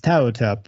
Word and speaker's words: Ptahhotep: It's Ptahhotep. I meant to, I mispronounced that the last time, and I was like, oh man, I wanted to say that too.